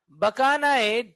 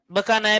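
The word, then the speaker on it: Bakanae: का नाम है क्या बकाना डिजीज बकाना डिजीज हां बकाना प्रोनाउंस करते हैं बेकेन लिखा होगा लेकिन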